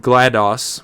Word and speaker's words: GLaDOS: the robotic voice called GLaDOS and yes I'm pronouncing it that way because it's like MS-DOS Disk Operating System seems completely automated and